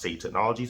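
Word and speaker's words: SAY Technologies: SAY Technologies pronounced Safe Technologies LLC located in Delaware.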